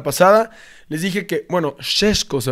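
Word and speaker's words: Šeško: Ahora yo les platiqué mucho de Benjamin Cesco la temporada pasada, la semana pasada les dije que bueno, Shesco al parecer se pronuncia, pero les dije que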